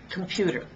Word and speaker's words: computer: Computer has three syllables or three beats, but if you can notice, I only stress one of them. Computer. Can you tell which one I stressed? It's the middle one. Computer. And did you also notice that on the first and third syllables, I reduced them, and I reduced them so much that I lost the vowel.